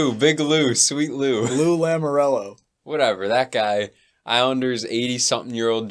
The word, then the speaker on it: Lamoriello: And obviously Lou Morello. Who? Wait, did I say it wrong? What did you say? Big Lou, sweet Lou. Lou Lamoriello.